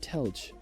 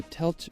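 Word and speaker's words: Telč: Now afterwards, we're going to visit the town of Telch. Now located about 2 hours drive from Prague. I was about to pronounce it Telch.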